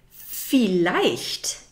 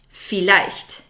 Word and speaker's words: vielleicht: Vielleicht, which means maybe. Vielleicht. Vielleicht. The German V is pronounced like the English F. Vielleicht. So it's not vielleicht, that's wrong. It's vielleicht.